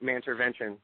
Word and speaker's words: Mantervention: It's just at Mantervention. So it's spelled like intervention, but with a man in front instead of the I.